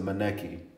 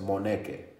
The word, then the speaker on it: Moneke: some leeway to, because in America they pronounce it Moneke. So Moneke, okay. In Davis, you know, in college I accepted that. Right. In Spain they say it the best, Moneke. That's Moneke.